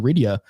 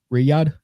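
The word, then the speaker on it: Riyadh: Even as Trump spoke in Ryia, uh sorry, Riyad, sorry, that was that was a bad pronunciation of that.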